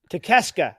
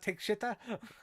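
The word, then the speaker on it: Takeshita: Takeshka, that's it. Oh, you mean it's not take shitta?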